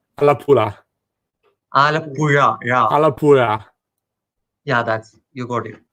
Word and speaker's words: Alappuzha: Like most of the English people, when I ask them to say this name, they would like Alapuza. Like I would try saying it, try pronouncing it. I can't try. Alapusa. It's not Alappuzha. It's Alappuzha.